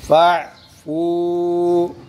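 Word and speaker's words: فاعفوا: आगे जी फ़अफ़ू इसमें ये अलिफ साइलेंट, ठीक है।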